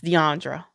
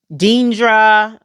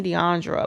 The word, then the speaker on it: Deandra: just hard to pronounce when people see it they call me everything from DeAndre Deandra Deandrea DeAndrea dindra that was my worst one I hated that one dingra like Dean dingra no that's not my